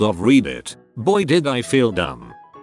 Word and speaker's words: Reddit: On a similar note, I used to pronounce Reddit as read it instead of read it.